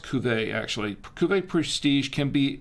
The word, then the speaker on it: Cuvée: Cuvée, it's pronounced Cuvée, actually.